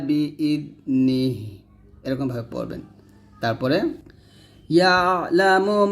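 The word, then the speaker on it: يَعْلَمُ: তারপরে ইয়ালামু মা বাইনা আইদিহিম, দেখুন ইয়া আইন জবর ইয়া, লাম জবর লা, ইয়ালা, মিম পেশ মু, ইয়ালামু, মিম আলিফ জবর মা,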